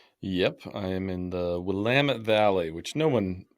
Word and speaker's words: Willamette: I am in the Willamette Valley which no one pronounces right everyone says Willamette but it's Willamette um just south of